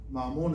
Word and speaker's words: Mamón: Es M-A-M-M-O, con acento en la O y M, Mamón, así se llama ese dios.